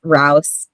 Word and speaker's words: Rouse: name correct no worries it's rouse like mouse but with an r yeah i'm so sorry